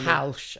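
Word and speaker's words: Hesmondhalgh: Halsh. I didn't realise okay. that. That's how it's Edmund pronounced.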